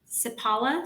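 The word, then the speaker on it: Seppala: racing I hope I say this name right sipala Siberian Huskies did I get it right that's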